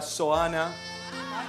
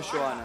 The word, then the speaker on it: Zoana: Negro el 8, bienvenido Lucas, bienvenido a su futura novia, Zoana. ¿Sabe qué es Zoana, no Joana, no es cierto?